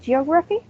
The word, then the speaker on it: geography: And finally, we have the word geography. It has 4 syllables and the stress is in the second one.